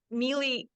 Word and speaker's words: melee: we are talking about melee right like Melee it's actually melee and he's like oh